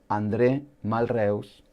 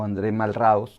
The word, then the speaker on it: André Malraux: pasado del siglo 20 andrew mal reus o andré malraux como malvados creo que es que es más se pronuncia mejor dice así un francés escritor político y